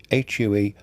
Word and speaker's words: Hue: So now we're going to Hue, H-U-E, Hue it's pronounced.